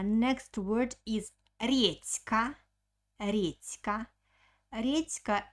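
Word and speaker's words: редька: k is voiceless consonant that's why letter d also becomes voiceless it's japanese radish or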